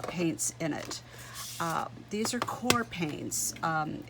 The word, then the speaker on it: Qor: in it these are core paints um it's a q o r but they're pronounced core like c-o-r-e like core so these are made